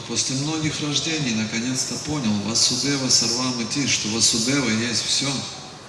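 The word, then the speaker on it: Vāsudeva: Васудев это отец. And son is Vasudeva. А сын ударение на первом слоге Васудев.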